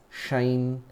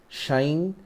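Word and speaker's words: sinh: We'll be kind of like reading sine as shine, cosh, dan, shake, koshake and koth.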